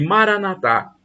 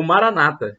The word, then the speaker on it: Maranata: Acredite creia o e Maraná thá como dizem os católicos com a tônica na última sílaba o Maranata Como diz a gente protestante com a tônica da penúltima sílaba somos cristãos o significado